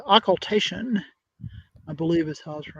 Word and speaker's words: occultation: answer joe uh define oculation it's pronounced yeah it's an occultation i believe this house